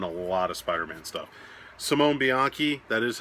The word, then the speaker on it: Simone Bianchi: Simone Bianchi, that is how you say it.